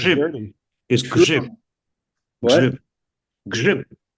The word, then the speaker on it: grzyb: Would you like to try to pronounce the Polish word for mushroom? No. Probably sounds Grzyb. dirty. Is grzyb.